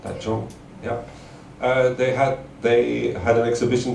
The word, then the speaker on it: Taichung: Taichung? Yeah, right. Taichung, yeah.